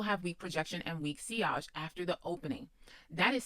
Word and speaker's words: sillage: All right, now seage is spelled s i l l a g- e. And that is your scent trail. That is what you leave behind you. So projection around you, seage behind you.